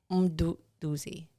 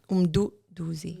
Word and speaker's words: Mduduzi: Mduduzi. Like Say it like African. I can't. No. You're doing that on purpose. Pam, can you teach Mduduzi. it? Mduduzi. Aye, that's horrible. Oh, you say it quick?